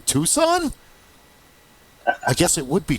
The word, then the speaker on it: Tucson: and how to pronounce You don't say tuxen. The first time I heard a far non-Amazonian say that, I was like, Tuxen? What do you mean Tucson?